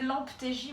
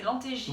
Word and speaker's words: Lemptégy: Donc on est allé voir le volcan de Lantégie. Lantégie, voilà. J'avais sur le bout de la langue. Parce que moi je pensais que c'était Lamptégie mais non en fait c'est Lantégie Oui, que ça ça se se dit.